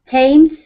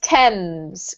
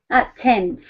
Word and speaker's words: Thames: So tames, whistle, and walked. Good. In walked, the T sound is actually, weirdly, the D here, right? Mm-hmm. Well done. This is pronounced Thames, Carmen. Thames.